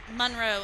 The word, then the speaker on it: Monroe: ways of pronouncing it but it's Monroe and West Monroe Louisiana and if that oh isn't that long you've said it wrong and nobody knows where